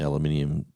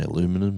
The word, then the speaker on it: aluminium: of the Pringles, the aluminium that's down the bottom. I did not say aluminum, I said aluminium, because there's no accent, that's how it's said.